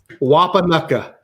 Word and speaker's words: Wapanucka: I'll mispronounce the name. I'm not from Oklahoma. Say it, James. Wapanucka.